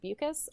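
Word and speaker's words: Beukes: oh yeah by Lauren I think it's pronounced buus um buus yeah yeah loving that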